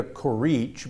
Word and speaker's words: Curici: look for her name, it's going to be spelled Curici with an I on the end of it, right? Right. Okay. But you don't pronounce the I.